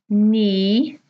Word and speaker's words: knee: Well, hopefully you notice that each of these words has a letter which is silent.